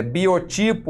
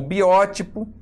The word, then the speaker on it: biótipo: mas tudo bem é Biotipo ou biótipo eltor psiquia o autópsia